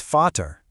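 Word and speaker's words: Vater: And to complete the switcheroo, the German V is usually pronounced like an English F. So the German word for father, vat, isn't v, it's fatter.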